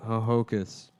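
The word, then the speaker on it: Ho-Ho-Kus: lot of the August Secaucus yeah but it's it's spelled h-o--h-o-k-u-s that's really dumb yeah Hohokus Hohokus yeah but yeah but Secaucus that's another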